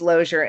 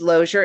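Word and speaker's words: Lozier: Kenyon, it's Loier Institute. I'm going to pull it. It's Loer Institute is spelled O I O L O Z I E R institute.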